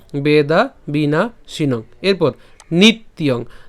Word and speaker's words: নিত্যং: তাহলে একসাথে যদি উচ্চারণ করি নিত্যং, নিত্যং একসাথে উচ্চারণ করব নিত্যং, ঠিক আছে।